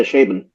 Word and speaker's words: Chabon: I don't know how to pronounce his last name. Chabon? Yeah, Chabon.